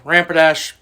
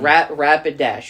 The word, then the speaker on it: Rapidash: pronounce it. Okay. Donphan, Beedrill, Rampadash, number 1. Rapidash.